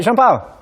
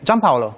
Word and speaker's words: Gianpaolo: Hey, I'm joined by Jean-Paul. Hi. How do you pronounce the name? Gianpaolo. Gianpaolo. Gianpaolo, Yeah. yes.